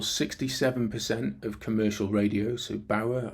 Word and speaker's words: Bauer: 2 companies control 67% of commercial radio, so Bauer, I think is how you pronounce it, B-A-U-R, and Global decide what you hear.